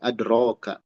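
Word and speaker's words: أدراك: Maksudnya ini nih, adroka. Nih, dibacanya alif, adro. Tulisannya ya ini ya, ya. Tapi jadi alif fungsinya, adroka.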